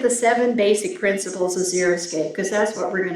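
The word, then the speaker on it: xeriscape: word zeroscape and too often I hear it pronounced zeroscape it's not it comes from two words one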